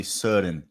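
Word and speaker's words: Søren: so i can't remember trying to pronounce soren kierkegaard sudden kierkegaard certain kierkegaard just like odigord this would be kierkegaard and it would be surin and the quote for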